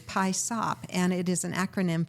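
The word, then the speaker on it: PYSOP: But P-Y-S-O-P is pie sop, and it is an acronym for Put Your Stuff on Paper.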